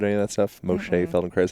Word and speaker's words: Moshe Feldenkrais: Moshe Feldenkrais, I think is how you say his name.